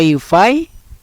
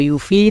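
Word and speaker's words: UEFI: Master Boot record sementara Ufi ya Ufi atau UV terserah teman-teman bacanya itu booting new way atau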